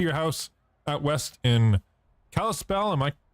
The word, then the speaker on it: Kalispell: made it to your house out west in Kalispell am I pronouncing that right yeah Kalispell yep there we go anyway uh let's grid